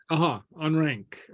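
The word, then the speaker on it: an Fhraing: Frank On rank. on rank. Oh, one thing about pronunciation is very often, if not always, a G at the end of a word is pronounced like a K.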